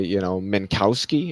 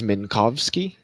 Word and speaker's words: Minkowski: Just like people say, Minkowski, it's Minkowski.